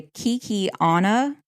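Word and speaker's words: Kekionga: Kinsey was known to have developed trade at the Kikiana.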